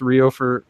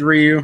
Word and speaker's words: Ryu: Is it pronounced Ryo in Ninja Gaiden? It's Ryu. It's Ryu Hayabusa.